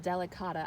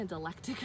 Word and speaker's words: delicata: see the damage okay I think it's pronounced delicata I had been pronouncing intellect touka and I don't I apparently didn't look at the syllables well enough but these are doing really nice delicata and over here that